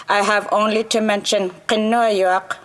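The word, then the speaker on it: Kenojuak: have only to mention kenoyuk or as non-inuate would say her name can canoevac if I say her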